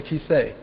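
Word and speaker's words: כיסא: side it's very silent the olive is always almost always a silent letter for example you're sitting right now on a and Hebrew a key to say that's what it's called a chair it's called a kissee if you took the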